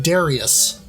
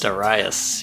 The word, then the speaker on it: Darius: I recently found out I've been pronouncing this name all these years wrong uh you know I've been saying Darius or darus it's dasas daras yeah uh and I've I